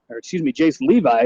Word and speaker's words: Jace Levy: Jace Levi is how they pronounce it.